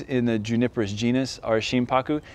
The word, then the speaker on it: Shimpaku: characters for it so to break down the two characters you have shin and haku which becomes paku when you combine it together so shim paku now sheen translates essentially